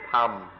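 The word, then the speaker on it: ธรรม: In Thai, they don't even try. They just pronounce it Tham.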